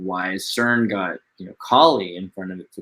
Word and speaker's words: Kali: did yeah I mean because it is spelled the same way and one has a short a that's like the only difference to me Kaleem gotta learn Sanskrit